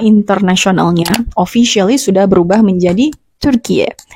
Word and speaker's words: Türkiye: Juni 2022 lalu sebutan negara ini secara internasionalnya officially sudah berubah menjadi Turkiye. Jadi bacanya itu bukan Turkiye tapi U-nya itu enggak kayak gini gitu.